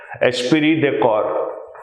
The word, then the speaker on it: esprit de corps: Get the pronunciation correct. Esprit de corps.